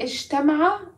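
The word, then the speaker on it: اجتمع: If I say ishtama'a, that includes so many people. And it rhymes with ifta'ala.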